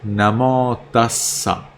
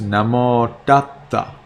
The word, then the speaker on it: Namo Tassa: So, for example, in Sri Lanka, and that's the pronunciation that I teach you, they pronounce Namo Tassa. Now in Myanmar, they pronounce Namo Tatta.